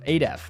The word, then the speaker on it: ADEF: Bonus 10 internet points for ADEF. I win. Me. Adef, that's how you say his name.